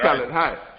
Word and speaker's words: Khaled: But it's kind of hard for people to roll that right. tongue underneath that H.